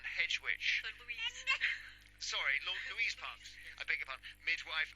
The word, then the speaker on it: Louise Parks: Sorry, Louise Parks. I beg your pardon. Midwife and hedge witch from Perth. And it is pronounced hedge witch.